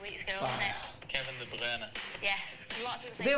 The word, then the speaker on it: De Bruyne: Kevin De Bruyne.